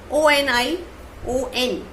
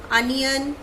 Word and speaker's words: onion: So now our second word is O-N-I-O-N. So many people speak it as onion or anything like that. So exact pronunciation of this word is onion.